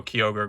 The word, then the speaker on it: Kyogre: And then, you know, Kyogre, Groudon, Rayquaza, Jirachi, and Celebi. Yes, that's how you pronounce all of them.